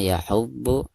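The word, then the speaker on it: يَحُضُّ: Wala yahuddu, dari ha ditekankan ke du ya, karena bod di sini huruf musyaddad ya, atau huruf yang bertasydid.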